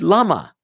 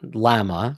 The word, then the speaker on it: lama: In this case, however, it is, because the Hebrew word for why is lama. Lama. It has nothing to do with the sheep-like animal that spits. It's not llama, or however you want to pronounce it.